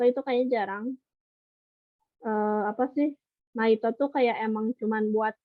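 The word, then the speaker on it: ナイト: Kalau misalkan ada naik, kalau kalau orang Jepang tuh kalau nemu bahasa Inggris naik, pasti bacanya Naito gitu.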